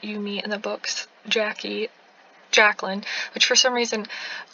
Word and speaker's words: Jacque: dabao she was like oh no it's Jackie I'm like of course so I was like I need to make that correction before I like make this video because that'd be really weird first pronouncing the character's name so this is Jack